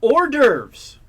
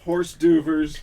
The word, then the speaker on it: hors d'oeuvres: Hors d'oeuvres. Of course he knows it. Horse duvers. No, he doesn't. It's spelled a really weird way.